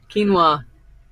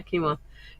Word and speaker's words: quinoa: that quinoa oh quinoa yeah quinoa I'll remember because it sounds stupid compared to what it looks like does that make sense